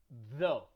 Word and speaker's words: though: Because we do have GH at the end of a word without a sound, and it happens a lot. And when I mean without a sound, I mean you don't pronounce it. Like in the word though, like when you say